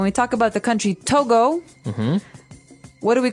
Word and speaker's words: Togo: it, I would say to go, right? But it's not to go, it's togo. Or as my French-speaking friends would say, togo.